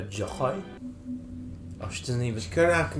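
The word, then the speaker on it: Joi: university an emanator joy it's pronounced a joy oh she doesn't even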